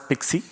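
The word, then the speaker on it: PKCE: to peak peak AC which is pronounced as pixie and it's called proof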